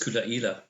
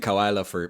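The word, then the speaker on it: Caol Ila: And obviously the distillery for this one is Coola, and that's that one with the funny pronunciation. Now when you're reading it, it's Caolila, pronounced Coola. Can I say that? So that's because I've been saying Kawaila for years.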